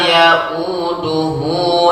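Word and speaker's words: يؤوده: Nah, sini ada membacanya u ya, dia hamzah. Ya-u, a-i-u, wala ya'u ya, wala ya'uduhu hifzuhuma.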